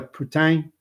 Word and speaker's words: Putin: In French, fries, gravy, cheese curd dish, and Russian president's last name are pronounced the same way.